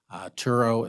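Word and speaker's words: Sturo: Turo is how you pronounce S-T-U-R-O.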